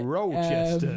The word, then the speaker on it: Rochester: uh in Ro roachester Rochester Rochester in a roachester that's how the Americans say it in a well there